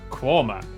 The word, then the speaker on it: Quernmore: Mousehole, Next, travel north up to Towcester, Toaster, then a quick jaunt to Gotham, Gotham, followed by a stop in Quernmore, Quorma, before finishing up in Alnwick.